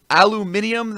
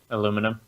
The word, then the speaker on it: aluminium: We came from people, they literally pronounce aluminium that way because they didn't want to say it the way Americans said it. Aluminum?